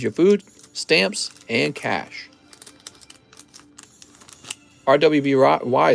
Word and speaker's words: RWBY: food stamps and cash rwby is pronounced as ruby oh i didn't know